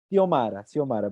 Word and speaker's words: Xiomara: ¿Cómo se pronuncia tu nombre? ¿Giomara, Xiomara o Xiomara, Lisette? Hola, Xiomara. Xiomara, perdón. Xiomara, sí.